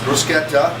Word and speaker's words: bruschetta: going to make a bruschetta that's right it's pronounced bruschetta with a nice tomato basil topping first i'm